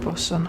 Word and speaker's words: boatswain: How did you pronounce that, bosun?